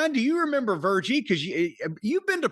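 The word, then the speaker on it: Virgie: remember Vie?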